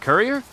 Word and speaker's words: courier: So say like a person that delivers stuff like so it's it's pronounced courier.